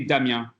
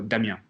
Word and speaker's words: Damien: It's supposed to be Damien because it's Okay. French. Yeah, so Damien, we have like in French, you have the accent, the inflection at the last syllable. So Damien.